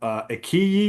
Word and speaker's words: iQIYI: willing to download that app, Ikiyi, is that how you pronounce it?